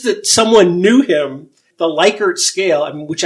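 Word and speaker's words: Likert: The Lyker scale, which everyone pronounces his name wrong pretty much. I hope I got it right in saying Lickard.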